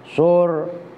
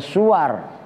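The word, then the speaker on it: صور: Awas bacanya loh ya, sur. Kalau bacanya suar itu jamaknya surah, maknanya gambar atau bentuk.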